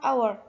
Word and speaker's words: hour: For example, the word hour. Even though there is the letter H, but in English the letter H is not read.